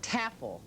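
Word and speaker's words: Tafel: How do you say it? Taffel. That's right. Rhymes with raffle.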